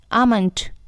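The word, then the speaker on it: almond: आमंट। यहाँ L silent है, आमंट, आमंट।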